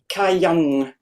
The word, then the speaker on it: Kayang: When you said this Gayam here, how did you pronounce the Anuswara? Yeah, I struggle with those a bit. I kind of sometimes forget them, to be honest. Okay, not to worry. Kayang.